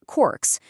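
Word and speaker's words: caulks: They pronounced it corks, which had metal spikes to keep them from slipping on the wet timber.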